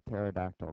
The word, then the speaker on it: pterodactyl: Okay, why can you never hear a pterodactyl go to the bathroom? Because the P is silent.